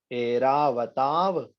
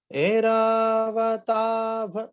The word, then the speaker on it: ऐरावताभ: एरावताभ, मिभ मुद्दत, मापतंतम। दृष्ट्वा भयं भवति नो भवदाश्रितानां। भैया तीसरी लाइन में भा या वा बोलना है। तीसरी लाइन में एरावताभ, मिभ मुद्दत।